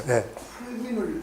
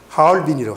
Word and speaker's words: 하얼빈: 할빈을 중국말로 할빈이지, 할빈. 흡 무슨 비네요. 함리빈인가? 함리빈. 이게 여기 가가지고 할빈이라고도 하고, 함리빈, 하얼빈에서 발음이 정확하게 중국번에 보면 하얼빈이라고, 하얼빈. 그게 중국식 발음이에요, 하얼빈.